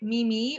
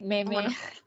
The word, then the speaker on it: meme: So I don't really pronounce it like mimi or like any other way. Like Yeah, some me people too. because I actually read it and then see like hear people spell like pronunciate like what Meme. like yeah they so at the same time so I just know instantly that it's meme.